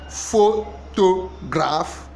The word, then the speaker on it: photograph: The correct stress syllable in photograph is what? Is it photograph? Is it photograph? Is it photograph? The correct answer is A. Photograph. Photograph. photograph. So you stress the first one.